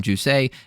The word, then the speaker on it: Jousset: Jousset is how you pronounce it. He is the French.